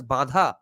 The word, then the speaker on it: bandha: Asana pranayama mudra and b-a-n-d-h-a is it supposed to be pronounced as badha that would be the Bengali pronunciation I guess or bandha or bandha so even the dharanas